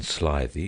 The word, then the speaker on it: slithy: Toves the i' in slithy is long as in rise and Toves is pronounced